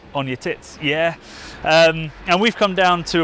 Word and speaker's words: Uneticky: village of Uneticky, which we were told is pronounced Uneticky.